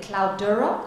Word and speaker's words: Cloudera: Cloudera, correct?